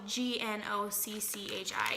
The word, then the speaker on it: gnocchi: It's her Instant Pot creamy gnocchi soup.